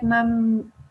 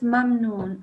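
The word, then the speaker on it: مَمْنُونٍ: I think you said something like mamnoon or something, but make sure it's mamnoon.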